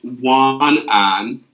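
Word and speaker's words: 晚安: I can tell you how to say good night, and that's wan an.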